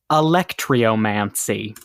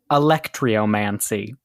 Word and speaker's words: alectryomancy: it to you Emily your word today is electrio mancy a l e CT r y o m a n c y electrio mancy electrio mancy or electricy yeah I got to